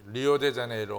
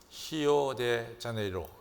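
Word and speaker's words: Rio de Janeiro: 그래서 이 멀리 가가지고 또 우리 성도님들이 호주도 이가스도 가고 또 이 리오데자네이로 가서, 근데 사실은 포르투게스를 제대로 발음하려면 히오데자네이로, 이렇게 히오가 더 정확한 발음입니다.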